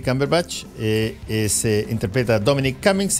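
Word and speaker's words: Cumberbatch: 4 de Febrero eh Cómo se llama el actor benedict Camper batch cber batch se pronuncia sí cber batch eh es interpreta Dominic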